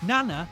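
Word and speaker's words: なな: lady holding two maces the Japanese for seven is Nana Nana sounds like the word Nana another word for Grandma this is Nana she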